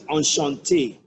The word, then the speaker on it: enchanté: So, deuxièmement, secondly, you have EN, which is pronounced as on. EN is pronounced as on. EN is pronounced as on. On, as on. Take a look at this. Enchanté, enchanté, enchanté, which is to say, nice to meet you, good to meet you, pleased to meet you. I'm enchanted to know you. EN is on, enchanté, enchanté.